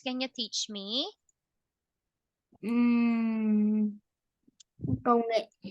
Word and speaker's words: Công nghệ: Ừm, Công nghệ. Konge.